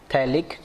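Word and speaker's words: phthalic: पी इसमें silent होता है, थैलिक एसिड, ठीक है।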